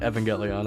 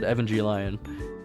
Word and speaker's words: Evangelion: I used to not pronounce that Evangelion. I pronounced it EvanG Lion.